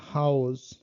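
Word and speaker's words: Haus: আ উ, আ উ এটার উচ্চারণটা হলো যুক্ত বর্ণে যেভাবে হয় সেটা হলো আও, লাইক খাও, যেমন হাউস।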